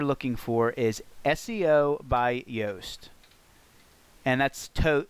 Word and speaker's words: Yoast: for is SEO by yast and that's to it's spelled like toast with a Y so let me search